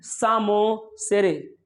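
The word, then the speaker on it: psammosere: अगर बोलूं succession on rocks, लिथोसेरे, succession on sand, सामोसेरे। ये पी साइलेंट है, ध्यान रहे।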